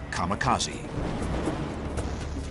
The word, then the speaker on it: kamikaze: called it Divine Wind which in Japanese is pronounced kamikaze this would be the rallying cry of Japanese